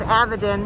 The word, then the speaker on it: AVAdin: and they have some actual robots uh called avidin it's it's pronounced avidin right correct uh can you talk about these